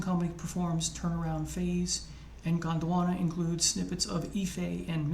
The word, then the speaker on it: Gondwana: There are only 2 tracks, Zimbabwe and Gondwana. I always want to say Botswana, but it's Gondwana. In Zimbabwe, Miles and Company performs Turnaround Phase, and Gondwana includes snippets of Ife and Mr.